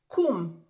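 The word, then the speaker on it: קום: If you are addressing male, kum. Kum. If you are addressing female, kumi.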